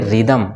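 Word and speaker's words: rhythm: rhinoceros गंदा होता है राइनोसेरॉस इसमें क्या पढ़ेंगे साइलेंट हो जाएगा इसको पढ़ेंगे रिदम क्या पढ़ेंगे इसको रिदम ठीक है ना यहां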